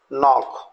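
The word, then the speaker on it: knock: गया है तो आपको बोलना है, राइट, नॉब, नॉक, निकर्स, नकल, अ नाइट। यहाँ हमको के लेटर को साइलेंट रखना है और वर्ड्स को प्रोनाउंसिएशन करना है।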